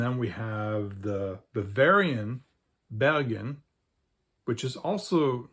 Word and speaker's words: Bergen: a basically non-Norwegian term, and it's pronounced like a standard German speaker would actually pronounce it. And then we have the Bavarian Bergen, which is also not surrounded by mountains, but it's right next to mountains.